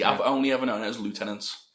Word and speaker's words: lieutenant: is no we say lieutenant now in in England like the word is pronounced leftenant that's it yeah I